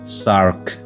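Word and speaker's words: SAARC: The organization has been pronounced as SARC because we have used the initial letters of each word, and it has been a new word with a new pronunciation, that is SARC.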